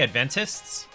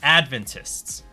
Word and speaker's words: Adventists: know the seventh day Adventists it's the wrong way to pronounce that because this is advent the emphasis is on the first syllable Advent so they are Adventists not Adventists and there have been